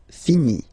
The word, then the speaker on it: finis: Remember, final S is not pronounced. Je finis.